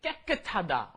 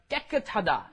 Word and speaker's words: 깨끗하다: 깨끗하다. Okay, you got to get both of those 쌍기역 in there. Got to 깨끗하다.